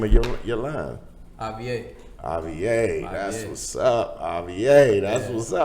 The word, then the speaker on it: A-VIE: Like, how do you pronounce the name of your line? A-VIE. A-VIE, that's what's up.